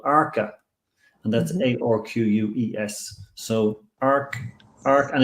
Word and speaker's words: Arques: So Arc, and it's pronounced Arc in French, in France.